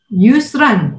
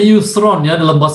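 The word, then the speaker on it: يسرا: nah ini yang menarik Yusran bacanya Yusron Arok ya alhamdulillah Yusron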